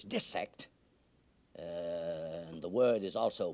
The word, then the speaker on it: dissect: cannot be dissected parenthetically you notice I pronounce the word dis sectored not dissected it is not dissection when you cut up fishes and mollusks and cats and things the word is de-sect and the word is